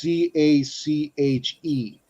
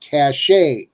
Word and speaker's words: cache: That's CACHE. It is not pronounced cache like you will hear in some TV shows. It's cache.